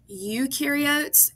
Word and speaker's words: eukaryotes: So remember, eukaryotes, eu rhymes with do. They do have a nucleus. Pro rhymes with no. Prokaryotes, no nucleus.